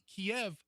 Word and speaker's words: Kyiv: Kiev was how the Russians pronounced the name of the city. Right. However, once Ukraine broke free, they tried to eliminate the Russian language, and in the Ukrainian language, the city is pronounced Kyiv. So it's Kyiv.